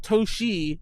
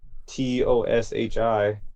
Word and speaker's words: Toshl: press release is like, oh, it's not Toshi, it's Toshl, even though it's still pronounced Toshi.